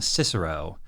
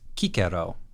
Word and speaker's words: Cicero: In English, we would call him Cicero, but in the Japanese, it's Kikero, which is a lot closer to the classical Latin pronunciation for this guy's name.